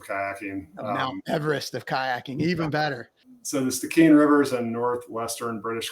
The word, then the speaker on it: Stikine: And when we spoke, you were getting ready to go to the Stikine. Did I pronounce that right? Stikine.